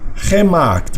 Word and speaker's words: gemaakt: Maken va a ser G, se duplica la A. Gemaakt. ¿Por qué? Porque esta es una sílaba cerrada, empieza en consonante, termina en consonante, pero esta sílaba queda abierta. Para que pueda completarse, se extiende con el sonido.